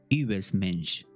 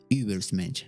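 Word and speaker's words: Übermensch: es y me dice, pon la boca como un, para decir U y D I. I. Übersmensch. Übersmensch. Algo así.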